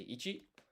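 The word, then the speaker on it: いち: To say it, you say ichi.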